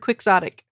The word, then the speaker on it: quixotic: The pronunciation of the word quixotic. It's GIF being pronounced GIF. I mean, it's a word derived from Quixote, pronounced Quixote, not Quixote. So what gives? It should really be pronounced Quixotic. Damn English language.